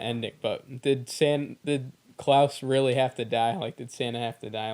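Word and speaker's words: Klaus: Yes, it's pronounced Klouse.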